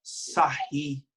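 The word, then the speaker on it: Sarrus: usa uma regrinha chamada Sarri. Sarri. Francês, né? Biquinho, ó. Sarri, Sarri, Sarri, biquinho, Sarri. Né? Mas que, na verdade, em português se escreve sarros.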